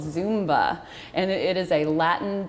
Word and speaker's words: Zumba: it's not it's Latin even though it's spelled zu MBA it'sit's zumba zumba uh-huh and it's really